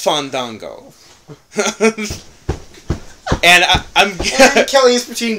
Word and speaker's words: Fandango: Fandango first of all you're saying his name wrong I'm sorry I'm saying his name wrong it's fond Dango and I'm Kelly is